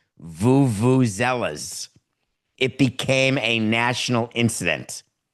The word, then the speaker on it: vuvuzela: Vuvenzuela. Does that word mean anything to you? What is it called, Coca? Vuvuzela.